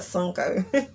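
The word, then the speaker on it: Sunoco: this gas station called i call it sunco but it's spelled suno co like this sun oco but i always call it sunko so i spent 50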